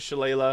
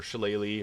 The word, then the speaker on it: Shillelagh: And we get Shillelagh, or Shillelagh, or Shillelagh, depending on how you want to pronounce. There's multiple pronunciations. I get a comment every time on this, so I just want to give all 3 pronunciations.